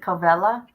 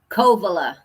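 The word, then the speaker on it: Covelo: Is it CoLella? Kovala. Kovala. Thank you. You're welcome. California. Look at her. It's It's okay. A lot a lot of people say Colla, but it's Kovala.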